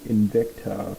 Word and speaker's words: Invicta: And this one, it's a Invicta Pro Diver. That's how you pronounce the name.